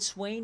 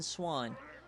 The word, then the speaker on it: Swain: it wrong Julius Swain we collectively decided Swain is better than swan we collectively and yes